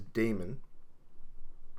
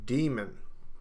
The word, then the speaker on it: daemon: in other words that the a should not be pronounced now this is confusing